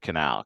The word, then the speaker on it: Quesnel: offer it proactively right it's Canal qu e s n e l as opposed to them